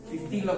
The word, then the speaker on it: pistillo: Pistillo con l'accento sulla seconda I.